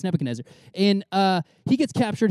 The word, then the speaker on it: Nebuchadnezzar: nebuchadnezzar nebuchadnezzar nebuchadnezzar yeah some people mess it up it's nebuchadnezzar and uh he gets